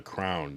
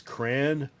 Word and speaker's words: crayon: Well, the three are the three main on crayon is crayon, crayon, or crown.